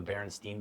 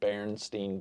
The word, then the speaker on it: Berenstain: Uh Randy, are you familiar with the Beren Beren what I thought were the Berenstain Bears children's books?